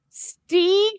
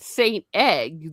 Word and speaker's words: Steg: It says Steg. Oh, okay. So, it's Steg. Okay. At first, I thought it said St. Egg.